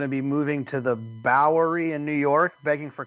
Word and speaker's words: Bowery: You don't have to add that extra syllable, really. I'd just say Bowery.